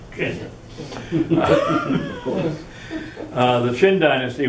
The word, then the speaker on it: Qin: complicated this is also sometimes rendered q-i-n pronounced of course kenya of course the qin